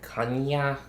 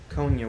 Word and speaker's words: Konyha: you know yeah so that's like there's different pronunciations i've been called kanya konya different ways of saying it but it's it's just kanye konya would be the one that i would probably